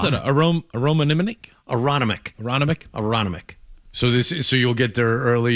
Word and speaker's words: Aronimink: How do you pronounce it? Aronimink? Aronimink.